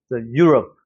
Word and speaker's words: Europe: 그런데 여기 같은 경우는 앞에는 강세가 있고 여기는 슈아 발음이니까 어떻게 해야 돼? 앞에는 세게 you. 그 다음에 뒤에는 love. Europe. Europe 하고 내려오는 거예요. 우리처럼 막 love 이렇게 발음하는 게 아니라는 거죠. Europe 이렇게 내려오는 발음.